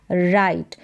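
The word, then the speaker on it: write: सकती हूँ, आई कैन राइट। तो यहाँ पर भी W जो है ये साइलेंट है, R से ही उच्चारण हो रहा है, लेकिन लिखा W जाएगा तभी सही स्पेलिंग होगी।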